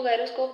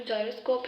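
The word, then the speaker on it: gyroscope: गायरोस्कोप है, जायरोस्कोप है, उसको गायरोस्कोप भी बोलते हैं, जायरोस्कोप भी, लेकिन करेक्ट प्रोनाउंसिएशन जो है वो जायरोस्कोप है।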